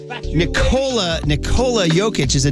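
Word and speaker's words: Nikola: starring in that was Nicolette Sheridan which is how I remember how to pronounce Nicola jokic Paulie said he's going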